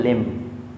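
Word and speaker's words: limb: बोला बम नेक्स्ट है लिम लिम लिम नहीं लिम लिम एम के बाद बी आ रहा है यहां पर भी बी साइलेंट होगा क्योंकि लि लिम अंग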